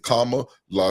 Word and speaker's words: Kamala: So now I know Kama. Yep, that's exactly how he explained it. Kama La.